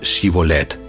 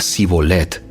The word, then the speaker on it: Shibolet: le pedían que pronunciara la palabra Shibolet. Si era de Efraín, diría Sibolet, porque a la gente de Efraín le cuesta pronunciar bien esa palabra.